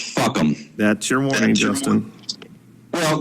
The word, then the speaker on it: FUCAM: The name of my petition is the Fully Uncensored Communications at Meetings petition, and the acronym is FUCAM, and is pronounced fuck 'em.